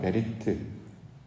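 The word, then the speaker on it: בְּרִית: 언약이라는 발음도 비슷해요. 베리트. 창세기 태초에는 베레시트, 언약은 베리트. 그래서 발음이 이제 비슷하기도 한데, 이처럼 언약이라는 말, 이건 영어로는 커버넌트라고 이제 번역을 했는데, 언약은 하나님이 이루시는 구원 사역.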